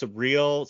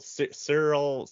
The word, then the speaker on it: Syril: pronounce his name correctly I think it's surreal Cyril it's almost like cereal it's like s-y-r-i-l yeah so I'm not gonna call him cereal but it's like surreal or something yeah I definitely feel